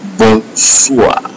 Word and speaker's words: bonsoir: Bonsoir.